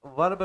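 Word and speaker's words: were: इसी के लिए अगर हम यहां पे सिंगुलर वर्ब में चले जाएं। किस में चले जाएं? सिंगुलर वर्ब की ओर चले जाएं।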